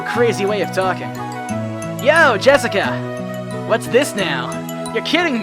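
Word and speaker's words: 朱志香: kind of weird name you see that is pronounced jessica she's dad's oldest brother's daughter that older brother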